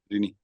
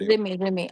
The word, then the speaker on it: Rimi: Rini? Rimi or Rini? How do you pronounce it? Rimi, RMI.